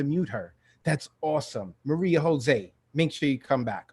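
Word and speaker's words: José: Thank You Maria Maria Jose Jose rhymes with all day hey Jose all day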